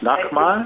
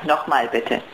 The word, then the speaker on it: Nochmal: So that means, Nochmal?